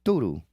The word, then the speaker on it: tudo: And it's spelled similarly in Portuguese and it's pronounced tudo.